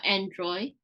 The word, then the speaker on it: Android: one more time uh Android good make sure you get that D at the end Android okay Android yeah good